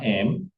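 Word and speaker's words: אם: Tapi kalau sama M ini adalah bacanya M ya, bukan im. M.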